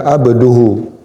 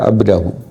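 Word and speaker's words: عَبْدَهُ: Kalau Al-Kisai membacanya abduhu. Imam Al-Kisai, salah seorang qari 7, membacanya abduhu. Zikru rahmati rabbika abduhu Zakaria. Boleh dibaca, tapi kita karena qiraatnya qiraat Asim dari Hafaz, maka dibaca abdahu.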